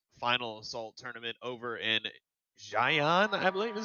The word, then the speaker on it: Xi'an: the World Cyber Games Final Assault tournament over in Xi'an, I believe is how it's pronounced, China.